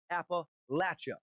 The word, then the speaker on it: Appalachia: from africa number four appa lacha that is the primary and most correct pronunciation appalachia mostly for northern